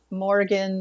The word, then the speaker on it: Morrighan: today with our goddess moriah ramona has been having difficulty putting her tongue around all morning well you know and i morgan i guess is another way you can pronounce her name uh yeah whatever sounds